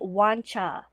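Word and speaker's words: Wancher: to say it um it's actually wancha oh I know I did not know that uh but there's also two pronunciations there's like a Japanese pronunciation of it and a Chinese pronunciation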